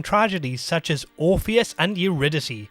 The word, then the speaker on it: Eurydice: such as orpheus and eurydice which i think is sometimes pronounced eurodice but michael gambin pronounces it as the former and so do i despite the fact i'm